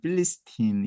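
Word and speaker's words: Philistine: 그리고 이제 그 블레셋이 영어로는 필리스틴 이렇게 발음을 하고 그래서 팔레스타인이 된 거고요.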